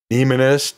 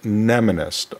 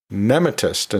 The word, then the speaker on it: mnemonist: And yeah, I sometimes find myself pronouncing it nemonist sometimes. Actually, that does show up occasionally and dictionaries, but it's most often pronounced mnemonist or mnemonist. I sometimes mistakenly use nematist instead of mnemonist.